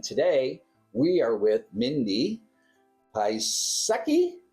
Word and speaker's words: Piasecki: I'm your host, and today we are with Mindi Piasecki. Am I pronouncing that right, Mindi? Piasecki. Okay. I wanted to correct myself there.